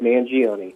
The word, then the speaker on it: Mangione: andy um mingioni is that right did i pronounce that right yes you did mangione okay andy is with us tonight he's also